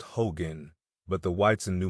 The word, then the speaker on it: hogan: word for Hut or house this is properly pronounced Hogan but the whites in New Mexico generally call it Hogan and the navajos never fail to understand the